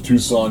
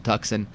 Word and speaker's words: Tucson: and desist from South Tucson I will just change it to tuckson why not it's how it's spelled yeah so our second